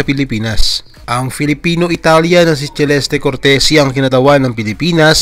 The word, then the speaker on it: Celeste: Incidentally, Celeste at hindi Celeste tulad ng tawag ng singer-actress na si Celeste Legazpi ang wastong pagbigkas sa pangalan ni Celeste.